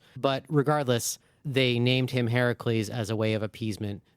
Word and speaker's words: Heracles: Despite all of the fun singalongs in the movie, the official pronunciation is now accepted as Heracles. Ah, Heracles, not Hercules.